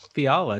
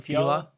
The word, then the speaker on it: Fiala: The NHL suspended Wild winger Kevin Fiala, Chick-fil-A.